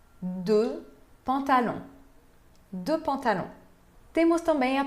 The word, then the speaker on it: pantalons: Não se pronuncia nem o X de deux, nem o S no final de pantalon. Deux pantalons.